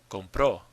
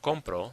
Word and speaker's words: compró: Compró. Compró. When you say he bought something, you say él compró something. Now, this is different from compro, which means I buy. Compró, the stress is on the end.